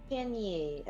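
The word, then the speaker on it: Xinyi: Shinyi. The X is pronounced like a sound. Shinyi. Okay. Yep.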